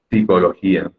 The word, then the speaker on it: psicología: Pero al inicio se ha decidido que siempre vaya una P. Que no se lee finalmente, pero no es una P muda.